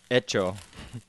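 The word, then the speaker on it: hecho: of this one is heto and America ETO the H is silent is it silent h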